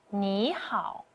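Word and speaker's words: 你好: When a third tone syllable meets another third tone syllable, the first syllable is too excited that it forgets the formal part of its tone. So it becomes 你好.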